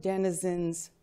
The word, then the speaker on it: denizen: Denizen rhymes with citizen. It sort of rhymes.